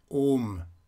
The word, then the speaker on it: Om: pronunciation of the Om, it's pronounced like this. Om. Om. It doesn't matter if you are keeping on a level, like I just pronounced it, or if you go up after the O, like Om. Om.